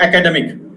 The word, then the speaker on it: academic: See the word academic. Here, primary stress is given on tamic, as it is shown.